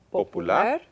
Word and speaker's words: popular: Y esta palabra, popular. Popular. 3 sílabas. Y énfasis al final. Popular. No necesita acento.